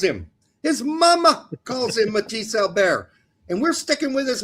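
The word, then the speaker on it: Mathis Albert: If my mama calls If his mama calls him that, that's what we're going to call him. Pete. Come on, Pete. Get on it. It's not Matthysse Albert.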